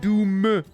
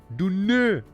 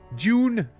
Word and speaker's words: Dune: Not Doom. Dune. June. As some might pronounce it.